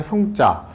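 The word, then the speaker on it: 省: 신자 새벽이고요 그 다음에 성자 살피성 자 우리 반성하다 할 때 쓰는 글자입니다 줄이다 할 때는 생으로 발음이 나기도 합니다 생략하다 할 때는 생이고요 그래서 혼정신성이라는 말을 저녁에는이라는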